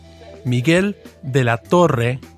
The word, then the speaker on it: Miguel de la Torre: Hi, I'm Manny Perez, and I'm editing this podcast, and I like to give Trip a hard time about pronouncing Spanish names. It's Miguel de la Torre, and the book is called The Politics of Jesús.